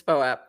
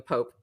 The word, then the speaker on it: POAP: directly um so but I prefer poap rather than Pope Pope is weird to me but unless it's an